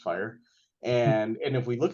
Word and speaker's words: FHIR: Health interoperability resources um fhir but pronounced fire and and if we